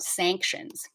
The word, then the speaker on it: sanctions: ng sound sanctions and at the end of sanctions you want to make sure your s sound is vibrating sanctions you don't want to say sanctions sanctions because that that de-voicing kind of takes away information from your listener so let's practice this